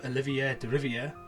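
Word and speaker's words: Olivier Deriviere: mostly consistent the soundtrack is fantastic french composer olivier de riviere i think i said it right amazing name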